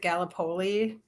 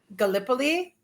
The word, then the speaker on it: Gallipoli: including landmarks like um I'm Auburn's is it Galipoli? Yeah. And Gallipoli. Yes. And Bankstown Art Center. Thank you for correcting my pronunciation.